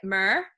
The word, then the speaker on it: mirror: upon you house and mum said mirror but Irish people pronounce it mur so it doesn't really